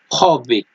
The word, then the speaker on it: havoc: यहाँ पे वर्ड है हॉविक, HAVOC।